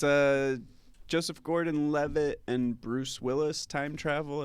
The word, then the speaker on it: Joseph Gordon-Levitt: Joseph Gordon-Levitt.